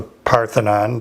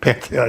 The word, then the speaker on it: Pantheon: So while we were there, we went to the Parthenon. Did I say it right this Pantheon? time? Pantheon.